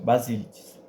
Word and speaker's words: Basilides: heresiarca gnóstico do Egito basilides é isso basilides Bas Tá certo a pronúncia aqui basil negava a